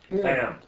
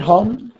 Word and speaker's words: Ham: How do you say Chom in English? Ham. You're not kidding. Ham. Not Hom? Ham.